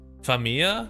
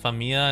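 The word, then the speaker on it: famiglia: Familia. No. Oh, is it Fam? Oh, okay. Just a reminder, it's pronounced Famia and not Familia.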